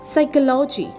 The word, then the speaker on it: psychology: Next we have is psychology spelled as p s y c h o l o g y psychology.